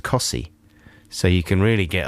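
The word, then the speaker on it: Costessey: very near wymandum that's spelt costessi and it's pronounced cossi so you can really get a lot of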